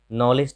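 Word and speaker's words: knowledge: नॉलेज तो आप सब जानते ही हैं, यहाँ देखिए यहाँ के साइलेंट है और यहाँ पे डी साइलेंट है, नॉलेज।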